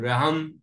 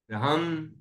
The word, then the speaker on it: र्हं: रहम मतलब ह के ऊपर रा की रे बिंदी, रा का उच्चारण पहले होगा आधा रा, और हा पर बिंदी का उच्चारण बाद में होगा, तो रहम, रहम, ऐसा बोलेंगे।